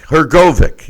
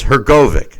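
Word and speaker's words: Hrgović: go her go her go her go though her go Vic yeah her go Vic the the her is silent there's no II so just that he just they hadn't either there it's her Kovac you know but uh I don't I'm not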